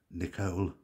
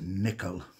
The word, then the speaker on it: Nicoll: by someone called Maurice Nicole although I believe it's pronounced nickel because he was from Scotland a place called perthshire and they would say Dr Morris nickel Nico Double L nickel